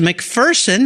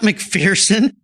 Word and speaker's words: McPherson: from Amanda this morning I've been saying it wrong all these years and I feel terrible it's a McPherson not McPherson so I've been corrected but